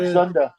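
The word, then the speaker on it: Dzundza: How do you pronounce his name? Denunza? George Zunda.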